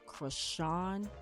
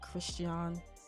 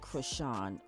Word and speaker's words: Chrisean: apologies and correct myself her name is pronounced crochet Rock not Christian sorry misspoke it's crush on um if not you